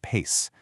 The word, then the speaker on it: PAICE: That's P A I C pronounced PACE.